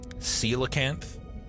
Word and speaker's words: Coelacanth: Coelacanth.